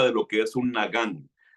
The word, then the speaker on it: nagán: Um, Quiero hablar con ustedes, mis hermanos, acerca de lo que es un nagán y voy a explicarles un poco lo que es un nagán conforme vaya desarrollando la enseñanza.